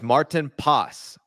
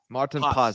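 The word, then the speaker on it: Maarten Paes: Get his name right, boys. Martin Pas. Martin Pas. That's the Dutch pronunciation. Martin Pas.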